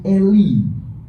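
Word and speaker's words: אֵלִי: Karena logat Ibrani itu harusnya eli. Eli. Eli, lemah, bukan lama.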